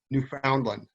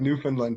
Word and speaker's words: Newfoundland: You're going to come to a place called Newfoundland, spelled like Newfoundland, but we call it Newfoundland up here.